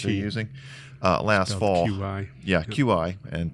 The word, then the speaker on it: Qi: QI. Yeah, Yep. QI, and pronounced Qi.